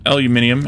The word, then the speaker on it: aluminium: cost again we need aluminum for that not Cobalt okay then yeah you can have the Cobalt we'll grab another piece of aluminum or aluminium as as it's spelled here in the game back we